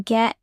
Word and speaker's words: get: In fast speech, the T in get often sounds like a quick D.